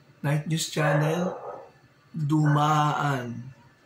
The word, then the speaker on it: Dumaan: On a Night News Channel, Dumaan. Night News Channel, Dumaan. It should have been Dumaan.